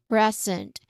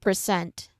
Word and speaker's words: present: the um for the noun equivalent is present again present first syllable is stressed okay not present all right so again